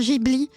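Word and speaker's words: Ghibli: fait les films désolé je dois dire Gibli mais c'est Gibli c'est Gibli je sais que ça se prononce Gibli mais j'ai du mal mais je ne sais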